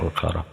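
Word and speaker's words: أخر: uk piro-piro ayat ukhara kang lio dibaca ukhara ya karena isim rukun shih punya ilat dua yaitu sifat dan udul itu ya kira-kira kaidahnya jadi bacanya ukharah di beberapa ayat yang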